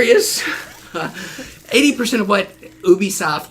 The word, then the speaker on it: Ubisoft: is 80% of what Ubisoft Ubisoft that's actually how you say it we know that now